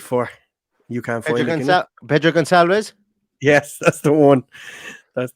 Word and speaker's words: Pedro Gonçalves: Pedro Gonçalves? Yes, that's the one. That's the one. That's how you pronounce it.